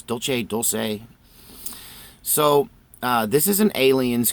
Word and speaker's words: Dulce: edition of coffee talk a specific time and today we're talking about the dulce wars the dulce Wars and I pronounce Dolce Dolce so this is an